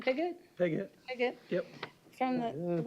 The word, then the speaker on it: Piggott: Piggott.